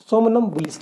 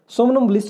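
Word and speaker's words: somnambulist: सोमनम्बुलिस्ट या सामनम्बुलिस्ट बोलते हैं उसको, इसको सोमनम या सामनम प्रोनाउंसिएशन कर सकते हैं आप। सामनम्बुलिस्ट अकॉर्डिंग टू आई थिंक मी ये राइट प्रोनाउंसिएशन है इसकी।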